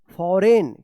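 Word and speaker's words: foreign: फॉरेन क्या पढ़ा जाएगा इसको? फॉरेन पढ़ा जाएगा। फॉरेन भी उच्चारण होता है।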